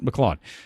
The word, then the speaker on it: McLeod: Did I say it right? Is it Cloud? McLeod. Like Gavin McLeod.